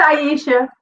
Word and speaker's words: Aisha: people might say aisha some people might say asia how did it it's aisha but it's okay asia just like abc right